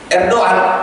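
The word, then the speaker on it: Erdoğan: Maka kemarin Tayyip Erdogan atau Erdogan bahasa kita, Erdogan sebenarnya bacanya bukan Erdogan.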